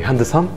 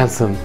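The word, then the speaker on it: handsome: ده وقول فرينز معايا طب كلمه وسيم تقولها ازاي هاند سم ولا هانسم هانسم ايه القصه ان الدي حرف ساكن يمين وشمال ما ينفعش انطقه عايز اقول مثلا ورايا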